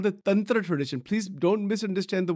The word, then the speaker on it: Tantra: One is a Vedic path, and the other is what is called the Tantra path, or Tantric, or Tantra. That is how it is pronounced.